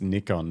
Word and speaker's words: Nikon: Oh, it's Nikon, not Nick Nikon. Thanks for your attention. Yeah, I saw that. Greg Carrick, better make this clear. It's Nikon, not Nick Nikon.